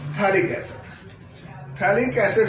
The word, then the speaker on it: phthalic: है, थैला फिर थैली, तो इसको पथैली नहीं पढ़ देना कहीं। थैलिक एसिड पथैलिक नहीं होता है, इट इज थैलिक acid, P silent है इसमें।